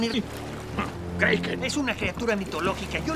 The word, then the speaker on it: Kraken: Kroken era la pronunciación ir... Kraken.